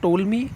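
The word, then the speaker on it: Ptolemy: यहां लिखा हुआ है इसमें टी साउंड साइलेंट है आपको इसी तरीके से इसको टोल मी बोला जाता है पी साउंड यहां साइलेंट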